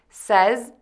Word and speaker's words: says: Move to the short eh vowel that is somewhat open.